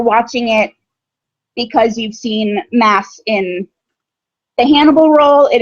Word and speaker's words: Mads: So it's Mass, as in you're going to Mass.